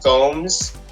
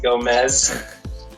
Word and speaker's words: Gomes: My name is Gomes. That's Gomes with an S. People always pronounce it Gomez.